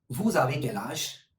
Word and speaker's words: vous avez quel âge: And the formal version of asking the age is vous avez quel âge?